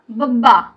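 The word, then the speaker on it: ਬੱਬਾ: ये हुआ बब्बा, बी ए B double A, बब्बा।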